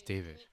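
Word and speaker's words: D4vd: No, it's David.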